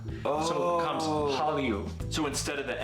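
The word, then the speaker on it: 한류: So it becomes Hallyu.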